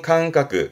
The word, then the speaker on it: 感覚: 발음은 캉까.